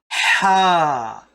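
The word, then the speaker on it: ح: The next one is Ha. Okay, Ha. It comes really deep from your throat.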